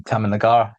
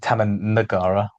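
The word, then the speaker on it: Taman Negara: my rainforest was the Tamagara in Malaysia. Yes. Uh or I should say Tam Nagara. uh cuz that's how it should be pronounced.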